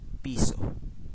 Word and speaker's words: piso: is the Philippine peso peso in Filipino just like in Spanish it's piso okay so uh there'll be